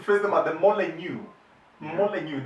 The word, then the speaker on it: Molineux: Molineux, the X is not pronounced.